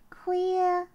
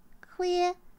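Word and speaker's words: khuya: night or midnight ah that's a good one queer it's really spelled like k-h-u-y-a that's how you spell it queer is midnight queer guy queer midnight or night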